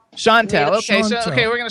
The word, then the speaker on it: Chantel: Is that how we pronounce it? Yeah, that's cool. Is that correct, though, or you can correct me? Chantel. Chantel.